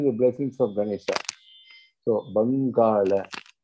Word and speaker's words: Bangala: So, Bangala, not Bungalow. Okay? It's not Bungalow. That's not the pronunciation. We have to say Bangala.